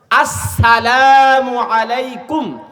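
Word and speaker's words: السلام عليكم: আসসালামু আলাইকুম, আসসালামু আলাইকুম, আসসালামু আলাইকুম, এটা হলো সঠিক উচ্চারণ।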